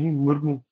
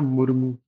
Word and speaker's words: मुर्मू: नहीं है पर इसको पढ़ा जाएगा मुर्मू मुर्मू है र का उच्चारण थोड़ा छोटा है शुद्ध रूप से लिखा